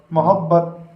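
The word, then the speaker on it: محبت: अब इसकी हिज्जे करते हैं, मीम वाव मौ हे बे, इसके ऊपर तस्दीर लगी हुई है बे के ऊपर, तो ये बे आपकी दो बार पड़ जाएगी, हे के साथ भी और ते के साथ भी।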